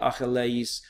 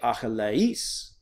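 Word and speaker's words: Ἀχιλλεύς: So you don't say Achilles, you say Achilles. Okay, you accent that last syllable.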